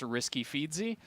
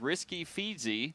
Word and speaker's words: RASQFEEDZZ: So my initial thought was that this is supposed to be pronounced Risky Feedsy.